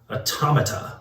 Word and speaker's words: Automata: Side note, I've been saying for years and only recently realized it's pronounced automata, like automaton or automaton.